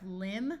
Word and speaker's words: limb: here we have crumble here we have limb with a silent B but we add the